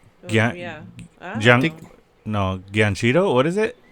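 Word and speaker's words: Giacchino: From uh Michael Guillino is that yeah no Ganchito. What is it? Spell it.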